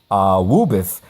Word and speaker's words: AAAWWUBBIS: Woobus. Doesn't saying that just make you feel all warm and fuzzy inside? It's fun to say, isn't it? As silly as it may sound, the acronym AAAWWUBBIS, pronounced Woobus, is an effective mnemonic